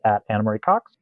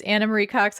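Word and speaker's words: Ana Marie Cox: Blue Sky I am Dan drner she is animar Cox uh is that also sounds different than my actual name it's anamarie Cox on Blue Sky as my I apologize for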